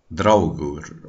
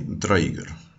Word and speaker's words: Draugr: talking about the Draugr, that are actually the Draugur or the Draugr, depending on how you want to pronounce it.